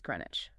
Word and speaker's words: Greenwich: But the WICH ending is almost entirely swallowed and compressed into an idge sound. It is Greenwich. That W often confuses people. The W is often pronounced, but the itch is the killer part. The sound simplifies right down to itch.